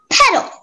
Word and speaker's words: peddle: place to place so petal can you please give me all the information except for the definition yeah so the only pronunciation is petal it's a verb and